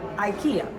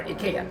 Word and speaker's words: Ikea: work case in point Ikea or Ikea depends how you say it it is Swedish designed